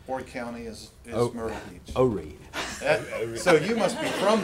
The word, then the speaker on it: Horry: Horry. So you must be from there if you said Horry, because that's how they say it. Well, the H is silent. It's a French word, and accents on the reef.